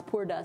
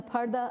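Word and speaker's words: purdah: English p u r d a which they pronounce Pura sometimes but it's PARTA it means being in a curtain or being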